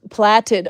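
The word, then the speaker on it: plaited: It's pronounced platted. Oh, sorry. I'm not British enough. Platted, but it's spelled like plate. P A I T.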